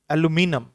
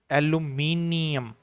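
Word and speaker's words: aluminium: यह प्रणाम्स करते हैं एलुमिनियम एलुमिनियम रोल लेकिन जो ब्रिटिश इंग्लिश है उसमें यह पर इसकी प्रनंसीएशन होती है एल्यूमिनियम सो एलुमिनियम यह एलुमिनियम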